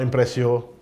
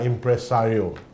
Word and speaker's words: Impresario: pronounce our company's name we are impressive not impressio not impressing no nothing we are impresario impressario we got impressions